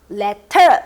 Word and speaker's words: letter: 그래서 T로 시작할 때는 T급 발음이 정확하게 나지만 T가 가운데 있을 때는 정확하게 T급 발음이 나지 않고 약간 리을 발음으로 변해요. 그래서 letter, little 이게 아니라 letter, little 이렇게 하는 게 훨씬 더 좋을 것 같아요.